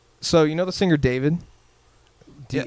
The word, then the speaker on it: D4VD: So you know the singer David? Yeah. It's spelled like D4VD, whatever.